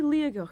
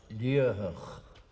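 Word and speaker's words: Liathach: But first mighty Leag in the beautiful region of Toridan. As it is written it is pronounced Leah.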